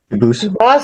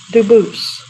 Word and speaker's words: Dubose: I know a family with that the same exact spelling in America, and they do pronounce it Dubose, but you said you pronounce it Dubose as the original Dubose as the original French French.